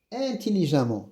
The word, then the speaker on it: intelligemment: Il a répondu intelligemment. Même si c'est écrit E, je prononce A comme ici, fréquemment, prudemment, évidemment, même si c'est écrit E, je prononce A.